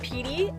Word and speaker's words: PT: So her dog's name was PT, pronounced Petey, and he was a stray, so the pound named him PYT originally, which stood for Poor Yellow Trash.